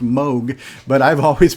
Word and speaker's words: Moog: here's the funny thing I always heard it pronounced moo as well the moo synthesizer another great 80s icon instrument but I actually have a friend who works with them and he's telling me it's actually pronounced Moog but I've always pronounced it moo it's spelled